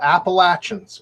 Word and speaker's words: Appalachians: out here in the Appalachians. You can see the same things. Now, Rodney, you're supposed to pronounce that Appalachians. My son went to school in Virginia, and he was taught the proper way.